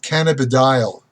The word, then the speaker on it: cannabidiol: hemp plant, which is called I want to pronounce it properly, cannabidiol.